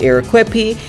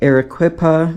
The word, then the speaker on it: Arequipa: Cusco, Peru down to Arequipa, then over to Arica, Chile. Come let me show you how to do this trip. Good morning, you guys. Good morning from Arequipa or Arequipa. It's pronounced both, so don't come at me.